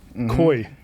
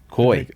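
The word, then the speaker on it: cuy: local dishes is guinea pig fried guinea pig Koi Koi as they pronounce it C yep so I got to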